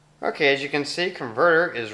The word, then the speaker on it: Convertr: a little app called converter now it's called converter but it's not spelled correctly i'm going to have to read it off here it's spelled c-o-n-v-e-r-t-r so they leave out the second e converter uh now what